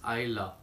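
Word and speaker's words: Islay: love which is written as ideal but the pronunciation is I love this region say aku one of the biggest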